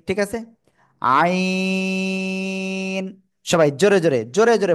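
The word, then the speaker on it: عين: এই অক্ষরের নাম কি আইন চার আলিফ টান গলা চেপে উচ্চারণ করতে হবে ঠিক আছে আইন সবাই জোরে জোরে জোরে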